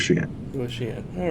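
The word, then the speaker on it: Xi'an: the uh clarification on the pronunciation of Shian Shian there you go I I told you guys I was going to butcher it I was going to pronounce it but I you know I don't expect you guys to do that yeah yeah we'll go with she in go with she in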